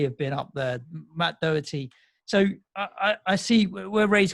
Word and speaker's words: Doherty: Matt Doherty, okay, pronouncing correct.